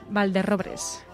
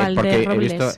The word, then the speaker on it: Valderrobres: No son robles, son robres. Valderrobres. Pero, y entonces, a ver, yo no me hecho, quiero meter con los... no es porque Valderrobles.